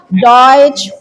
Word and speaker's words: Deutsch: Ya, jadi ich spreche Deutsch und English. Deutsch und English. Ya, ada EU. Jadi ada huruf vokal EU, dia bacanya oi. EU oi, Deutsch.